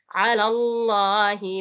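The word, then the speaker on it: عَلَى اللّٰهِ: Jadi ada huruf fathah mendatangi lafzul jalalah. Jadi kalau fathah sebelum kata Allah itu bacanya juga tebal. Nah, ainnya jangan lupa ainnya, bukan alif di situ ya ain. Jadi bacanya juga lebih ditekan lagi a. Dia masih sama dengan huruf tempat keluarnya huruf ha, ghain dan semua jenis ha yang lain. Dia masih huruf tenggorokan ini a.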